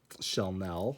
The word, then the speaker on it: Shellnelle: her name on it shelnell so i'm guessing it's supposed to be pronounced like chanel since that's very obviously